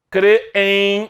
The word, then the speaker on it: crêem: assunto foi retirado simples crêem se escreve assim certo qual é a separação silábica de crê em crer em qual é a sílaba tônica de crêem é o cre ou seja segue exatamente